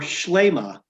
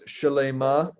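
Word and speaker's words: שלמה: You know, I would say that it's shalema, that Okay. it's there. You do pronounce the vowel, but you often hear it without it. And who am I to say that they're wrong?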